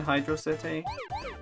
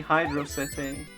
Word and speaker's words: Hydro City: can get Supersonic in Hydro City. Oh no. Hydro City. Have I just introduced the debate? I'm gonna say Hydro City, not Hydrocity, but I do acknowledge that in-game it's spelled as one word.